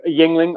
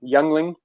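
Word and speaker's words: Yuengling: it like somebody's going to take like a Yingling oh sorry I pronounced that wrong youngling and they're gonna go oh I ain't drinking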